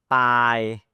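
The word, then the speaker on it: ปาย: And the word Pai, Pai, listen to it again, Pai. It's a bit more elongated, so this is a long I and a short I.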